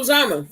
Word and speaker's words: Uzomah: Oh, Uzomah. Sorry, that's how you say his name.